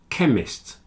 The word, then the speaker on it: chemist: stomach ache architect and chemist they have a CH which is pronounced like a k stomach a stomach a